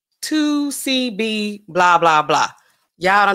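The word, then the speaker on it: 2C-B: blah blah blah C the letter c and the letter b and then blah blah blah that's how we know and that's how they pronounce it 2 CB why in the world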